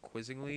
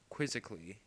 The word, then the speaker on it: quizzically: past my shoulder I I could never pronounce this word I thought it was like quizzingly but it's like quizzically yeah quizzically Or quizzically